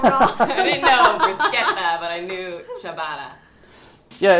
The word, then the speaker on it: bruschetta: rules of pronunciation, like if you see a C by itself or if you see a CH is usually a K sound in Italian.